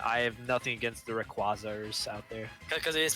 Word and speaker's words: Rayquaza: Now, Rip Bonk, I ask you, how do you pronounce the Pokemon on your coin? Rayquaza.